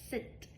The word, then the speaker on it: scent: What is that scent? Smell. S C E after an S before an E. I don't have a sound for C. Scent. All we have is the S sound.